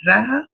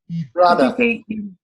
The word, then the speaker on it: Radha: How do you say it? Raha? Radha. Radha. Radha, yes.